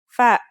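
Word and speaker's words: فاء: The first letter we're going to learn today is fa. Fa is pronounced just like the English F.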